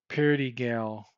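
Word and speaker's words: Perigal: Sounds like Peligro, but it's not. It's like Pelagar or something like that. I shouldn't slight the guy. Let me go back, because it's bad luck to mispronounce persons' names. It's George Perdigal. Perdigal.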